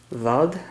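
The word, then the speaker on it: Wald: worried about mispronouncing it so it's spelled at wal D which is German for forest loud I believe it is forgive me if that's not the correct pronunciation and the reason I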